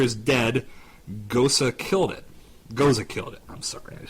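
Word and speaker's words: Gose: lot of Gosa beer in my life it's pronounced goza is it goza go okay I over annunciate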